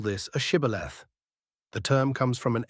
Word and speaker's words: shibboleth: to say the word shibboleth. The enemy tribe didn't have the sh sound in their dialect. They pronounced it sibboleth.